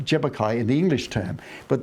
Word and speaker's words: Tjapukai: And we have the Jebbukai Aboriginal Cultural Park, TJAPUKAI, pronounced Jebbukai in the English term.